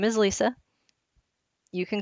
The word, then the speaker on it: Lisa: It is pronounced Lisa, so there's no Z. It's not Lessa or Lisa.